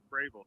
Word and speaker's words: Fravel: to not accidentally say travel when i'm when i'm saying your name yeah well it's actually pronounced gravel so um going away from travel a little bit but a lot of